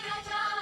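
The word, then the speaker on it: wrong: রাজত্বে নইলে মোদের রাজার সনে মিলবো আমরা সবাই রাজা আমাদের রাজার রাজত্বে তুইলে মনের রাজার সনে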